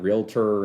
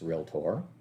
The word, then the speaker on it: REALTOR: how to pronounce it because it's not realtor it's not any one of those things it's realtor and as we scroll down